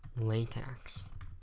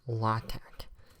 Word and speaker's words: LaTeX: ' interpreter and then latex or lot act depending on how you want to pronounce it okay now let's delete